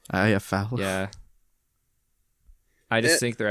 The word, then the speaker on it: Iafallo: Alex Iafallo. Iafallo.